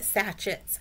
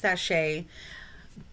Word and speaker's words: sachet: to be on poppets now i call it satchets i know it's pronounced sashay but listen it's puppets and satchets okay this